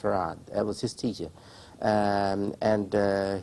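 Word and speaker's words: Fard: F-A-R-D is spelled, but pronounced Farad.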